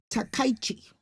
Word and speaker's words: Takaichi: Sanae Takaichi. I can pronounce the surname Takaichi, but the first name is Sanae.